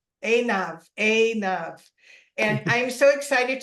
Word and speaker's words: Einav: I have another amazing woman here with us today, and it's, how do you say it, Aidna? Einav.